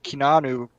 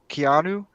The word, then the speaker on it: Keanu: what's that dude's name uh kinanu keanu is that how you say it yeah indiana reeves i could see him playing morocco let's go with the fact that you can't say keanu reeves okay one thing about